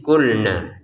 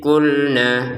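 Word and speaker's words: قُلْنَا: Contoh, wa idh kulna, 2 harokat panjangnya kalau berhenti. Kalau digabungin, wa idh kulna dakhulu, jadi panjangnya na menjadi hilang ketika sudah dipertemukan dengan sukun. Begitu cara bacanya ya.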